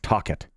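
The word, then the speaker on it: Tocchet: I'm like, oh, Rick Tockett.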